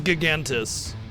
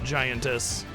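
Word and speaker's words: Gigantes: I think it's supposed to be pronounced that way, not Oh, it isn't. You didn't spell it that way. Gigantis, not giantis. Yeah, gigantis. Like g the prefix here is giga.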